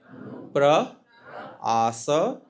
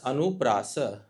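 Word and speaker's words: अनुप्रास: Please repeat after me. Anu anu assa anu assa anuasa anuasa. This is how the term is formed.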